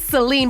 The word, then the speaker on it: Celine: middle school with, and her name was Celine, but obviously in Spanish it's Selene, and we would call her Nene.